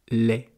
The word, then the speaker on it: laid: Ou alors laid, comme la laideur, quelqu'un de moche, L-A-I-D. Si c'est laid, L-A-I-T, c'est autre chose. C'est ce que produit la vache, ou la chèvre, ou la brebis. Donc vous voyez, ça se prononce de la même façon, lait, mais suivant la lettre